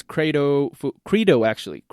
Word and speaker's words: credo: So the second company is Credo Foods. And Credo in Spanish, to say it in a more Latin way, credo, right?